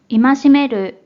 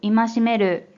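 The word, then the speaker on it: 戒める: 자, 이 한자 뜻으로는 戒める、戒める、 음으로는 戒、戒、 라고 발음해줘요.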